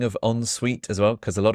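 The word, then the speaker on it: en suite: walk-in closet oo that's really fancy and an onsuite bathroom an onsuite bathroom is connected to the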